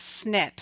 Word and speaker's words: SNP: wonder what are dna snips and how do they help us find our ancestors the acronym snp stands for single nucleotide polymorphism and we pronounce this as snip when talking about dna